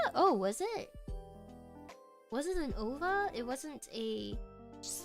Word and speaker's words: OVA: You called Ovas Ova rather than OVA.